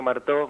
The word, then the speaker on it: Marteau: El estudio Martó, Marteau se escribe, ¿sí?